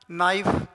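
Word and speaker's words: knife: इसे पढ़ेंगे नो नाइफ night knowledge. तो यहां पर के साइलेंट है क्योंकि के तुरंत बाद एन आया और एन के बाद वोवेल है।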